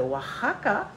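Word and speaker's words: Oaxaca: c'est dans l'état de wahaka wakaka ça s'écrit même mais ça se dit W en espagnol et euh le bras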